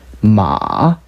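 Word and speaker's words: 马: 그래서 M자를 붙여서 읽어보면은 마 하고 말, 우리가 타고 달리는 말 되는 거죠. 가장 낮은 높이로 발음한다.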